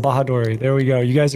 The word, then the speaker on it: Bahadori: did your chat miss your chat missed the pronunciation of my last name bahadori there we go you guys are caught up ha bahadori n out of 10 all right cool so